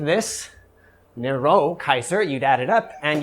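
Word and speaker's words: Nero Caesar: If you speak Latin, the way you say Nero is Nero Kaiser.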